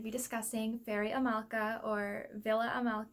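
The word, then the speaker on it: Víla Amálka: discussing fairy Amala or Villa Amala as I think it's pronounced in check so I'm going to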